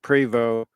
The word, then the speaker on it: Prevost: and they pronounce it preo it spelled like Prevost but anyway it's French and it's it's a marathon conversion so Marathon buys the shell buys the bus shell from privo and then it shipped